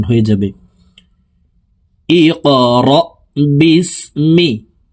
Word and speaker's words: اقرأ: ইকরা বিসমি। কফ কলকলার হরফ, উপরের দিকে ধাবিত করে ধাক্কা দিয়ে উচ্চারণ করতে হবে।